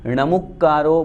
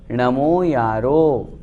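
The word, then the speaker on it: णमोयारो: कितनी कैसेट्स सुनी हैं, उनमें णमुक्कारो बोलते हैं, णमोकारो बोलते हैं, वो अशुद्ध है। शुद्ध क्या है? नमो यारो।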